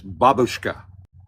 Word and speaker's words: babushka: If Marta's here, she's going to give me It's babushka.